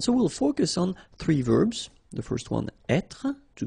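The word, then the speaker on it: vert: rou remember rou so masculine form don't pronounce the final T ver feminine form ver so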